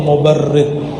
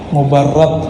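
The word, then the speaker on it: مبرد: Man ra'a wajhaka yas'ad ya karimal walidaini, hauduka safil mubarrid, wirduna yawman nusyuri. Mubarrad bacanya, as-safil mubarrad. Wahai karimal walidain.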